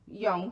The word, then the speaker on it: Jung: Carl Jung, the Swiss psychologist and psychoanalyst, and Young, thank you very much. Wait, that's Queen Turkey. The Your pronunciation.